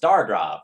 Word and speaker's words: STRGRV: Oh, pronounced Stargrove.